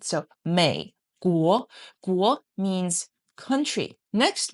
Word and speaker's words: 美: So here, it chose the pronunciation of America, this me sound, and then they will find a Chinese character that has the similar pronunciation as me. So they chose mei, mei.